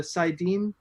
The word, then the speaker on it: saidin: where you know uh saidin i think is how it's pronounced and is that is that right yeah okay cool i'll take